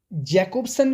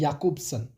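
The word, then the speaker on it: Jakobson: सबसे पहले आज बात करेंगे रोमन याकूब्सन, जिनके जैकोब्सन भी पढ़ते हैं कुछ, लेकिन इनका जो अगर सही प्रोनाउंसिएशन है that is याकूब्सन। He was primarily concerned with the study of the nature of language, the symbol systems.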